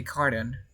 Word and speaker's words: carton: Remember, RTO, you don't pronounce the T sound. We say carton.